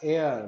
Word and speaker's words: heir: teenager when he died he was the last heir yes this word is to be pronounced as here not higher the last air means successor of a powerful family that had